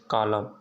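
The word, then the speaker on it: column: जैसे atom, dam, hymn, कॉलम, ठीक ना, ये प्रकार का क्या है आपका साइलेंट है।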